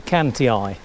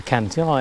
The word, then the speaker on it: Cantii: Romans came along and they called them the Canty eye and the reason it's I on the end